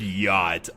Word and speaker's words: yacht: come across the word yacht. Oh yeah, that would be a challenge, wouldn't it? Like, the more... Yacht. Like, the more fucking C is a silent letter as it is.